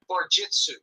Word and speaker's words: Barjitsu: Everybody keeps mispronouncing. Barjutso, how do you say it? Barjitsu. Barjitsu.